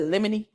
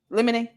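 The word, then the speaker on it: limine: I said lemony. Lemonade. I'm going to say the judge is saying it right. So, we'll say lemonade.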